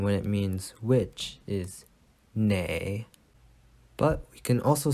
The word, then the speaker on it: 哪: it's pronounced na but there's a hidden r if you want to add it so i usually say nar so the pattern is